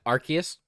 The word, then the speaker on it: Arceus: Is it Arceus? Yeah, Arceus, how you actually pronounce it.